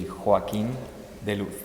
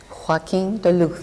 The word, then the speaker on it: Joaquin De Luz: Okay, in Spanish, the right way and the real ways, it will be Joaquin De Luz. Joaquin De Luz. Yeah, it's very important to have the lisp and the Absolutely, that's and very...